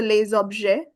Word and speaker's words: les objets: Liaison sur Les objets. We will not pronounce this S. And we know the sound of ET, which is A.